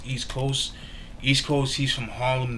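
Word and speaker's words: Eastkoast: East Coast is spelled EAST, but instead with a C is with a K. So it's East Coast.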